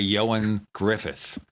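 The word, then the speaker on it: Ioan Gruffudd: It's, by the way, Ioan Griffith, although it's spelled in Welsh. That's why it sounds like something else.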